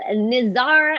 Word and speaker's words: Nizar: Nizar, am I pronouncing that correctly? Yes, you are.